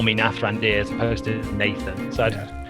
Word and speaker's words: Nathrandir: Is that how you say it? Nathrandir. Yeah. Nathrandir. Okay.